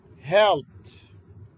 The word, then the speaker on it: helped: مثال اخر helped، فهاي الاي دي تلفظ تي الى اخره.